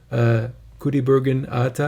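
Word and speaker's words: Kudaibergen Ata: And it talks, they interview Kudaibergen Atta, I believe is how you pronounce that, the Dimash's grandfather and his grandmother and his parents, of course.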